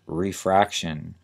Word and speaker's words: refraction: the procedure to find the corrective lenses is refraction r e f r a c t i